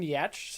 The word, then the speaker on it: Giertz: It's pronounced Yach, but it's spelled Geertz.